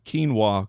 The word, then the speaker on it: quinoa: What percentage of people can pronounce quinoa correctly?